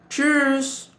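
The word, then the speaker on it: tschüss: German is cheers Cheers this is a little difficult to pronounce owing to its different spelling as well as the you whom loud what is this oome lout what use is it learn about this gradually in a future video there is a casual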